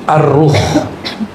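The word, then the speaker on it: الروح: Sekarang masuk ke istilah kedua, yaitu ar-ruh. Bukan roh ya, ar-ruh. Kalau roh apalagi tuh ya. Bacanya ar-ruh pakai alif lam.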